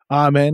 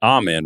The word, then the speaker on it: Amen: I think I think it's Amen right he doesn't pronounce it amen I think it's Amen I absolutely I mean this